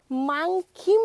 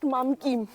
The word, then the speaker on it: মাংখিম: এই ভিউপয়েন্টের নাম হচ্ছে মাংখিম ভিউপয়েন্ট। নট মামকিম।